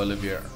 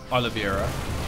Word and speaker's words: Oliveira: the words today upgrades looking very good for Olivier Oliveira I almost said it wrong again his plus